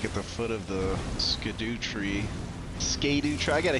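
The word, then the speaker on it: Scadutree: the foot of the Scadoo tree. Scadoo tree. I got to hear somebody say that word soon or I'm going to lose my mind. Scatter tree. Scatter tree. People always say it like scatter.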